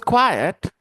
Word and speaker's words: quiet: continue and she was quiet and shy she was quiet do you notice how I pronounce this word Indian students quiet quiet quiet meet